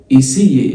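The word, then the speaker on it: essayer: إيسي الأو ار في الآخر بتتنطق إيه؟ هي هتتنطق إيسي ليه؟ بص الإي مع الأي في الفرنساوي بتتنطق إيه طويلة.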